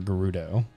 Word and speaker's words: Gerudo: Always use the hard G. I thought so too. Like I've always heard. I always remember Gerudo, like Gerudo Valley and all those. But did I mess up? No, that's the right way.